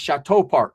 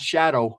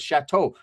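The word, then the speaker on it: Shatto Park: It's a very well-known in Los Angeles click of 18 Street, which is actually pronounced Chateau Park, right? Not Shadow, like the shadow, but Chateau.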